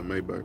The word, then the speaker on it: Maybach: No, so, what we've heard, we don't know specifically, is that he bought her Gucci bags, a Maybach, was it, did I say it right? Yeah, Maybach.